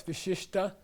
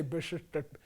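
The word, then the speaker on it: विशिष्ट: please say sir uh now this is not tibetan this is sanskrit so it's sa okay now it's vista and you pronounce the head letter okay so you've got to know sanskrit to be able to pronounce tibetan correctly by the way tibetans don't they have no idea what to say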